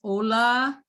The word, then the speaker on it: Ola: see my name is ola if you know hola in spanish take away the edge he got me right